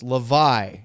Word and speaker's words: Hlavaj: His name is Samuel Hlavaj. According to the NHL pronunciation guide, it's Hlavaj.